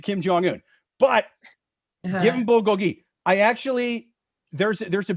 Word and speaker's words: bulgogi: amazing yeah dude all right but isn't it bulgog uh what is it bulgogi right yeah yeah yeah yeah the way you're